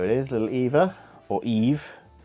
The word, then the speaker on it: Eve: is Little Eva or Eve well pronounced it Eva but her name is actually Eve number 14 o I